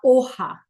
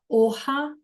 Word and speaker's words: hoja: Then we have la hoja. La hoja, H is silent, and the J sounds like an H, which is a leaf.